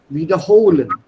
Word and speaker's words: wiederholen: That's why I said stress on the second syllable. Wiederholen. Not wiederholen. Das ist ein nicht trennbares Verb.